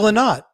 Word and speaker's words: Lynott: Phil Lynott, or Lynott, however, how do you say that? The Americans say Lynott, and the English say Lynott.